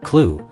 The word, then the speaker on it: CLU: reusable command launch unit clu pronounced clue which is the targeting